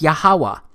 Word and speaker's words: Yahweh: But this YHWH, it's pronounced as Yahweh, because it turns out that the language was so simple back then that it vocalized each consonant with an ah sound without specifically marking that sound between consonants.